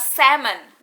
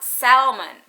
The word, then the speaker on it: salmon: Pengucapannya adalah salmon, not salmon. So the L is silent.